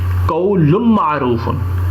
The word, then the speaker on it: قول معروف: قولن کو قول نون کے ساتھ کھول دیا گیا ہے معروف, اور ہم جب اسے تلفظ میں اس کو ہم جب پروناؤنس کریں گے تو لام کی جگہ ہم میم پروناؤنس کریں گے, قول معروف.